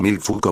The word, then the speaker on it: Michel Foucault: Paul Mel fou pronunciación en francés bar mil fuco bar poitiers 15 de octubre de 1926 París